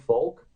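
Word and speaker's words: Volk: used it with a spell with a v but it's pronounced folk right and he had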